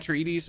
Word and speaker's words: Atreides: I just know that Atreides ends on a deeds.